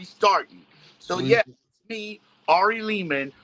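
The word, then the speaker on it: Lehman: So, yes, me, Ari Leman, rhymes with demon, the first Jason for he's from Friday the 13th.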